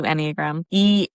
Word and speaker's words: Enneagram: Now we do Enneagram. ENNE, like GARM. Like it's spelled with an E, not, A. Enneagram.